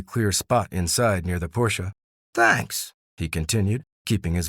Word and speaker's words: Porsche: I've always loved Porsche. There's just something about them, she mused. It's actually pronounced Porsche, Nick clarified, his perfectionism surfacing.